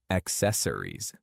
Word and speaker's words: accessories: Second, accessories. This word has 4 syllables. Rees. Focus on emphasizing the second syllable. Accessories. Accessories. It is not accessories. It is accessories.